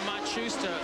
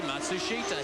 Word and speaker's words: Matsushita: That's Hiro Matusta. Sorry, Matsushita.